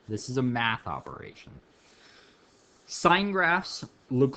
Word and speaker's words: sine: two this one is y equals sine pronounced like that spelled like that it's sign not sin it's not the thing that you get